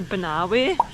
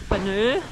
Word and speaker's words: Banaue: I was pronouncing it wrongly before. It's actually Banaue, not Banaue, which I was saying before.